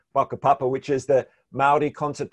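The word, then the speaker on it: whakapapa: maori concept of papa spelt with the wh they're pronounced with an f baka papa which is the maori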